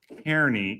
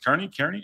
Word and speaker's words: Kearney: There's a Tom Kearney consideration thing that we're going to talk about. Tom Kearney. Kearney? Am I saying it right? I think Kearney.